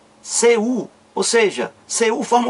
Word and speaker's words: Cu: Então, se eu tenho C e tenho um U, então a pronúncia é o quê? Cu.